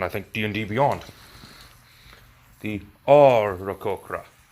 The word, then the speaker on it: Aarakocra: Aarakocra. That's how you pronounce it. It even says so on, I think, D&D Beyond. The Aarakocra. You gotta say the A as if you're saying happy.